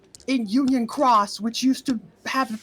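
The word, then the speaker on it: Union χ: Because it used to be pronounced key, but now it's pronounced cross.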